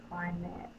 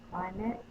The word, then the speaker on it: climate: is the short E, climate. Climate, climate. Cly, long I, syllable break right here, met. This silent E is not making the vowel in front of it say its long sound, A, climate.